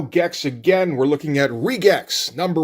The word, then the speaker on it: RE:GEX: So yes, we are looking at Regex. Yes, I know that's how you pronounce the title.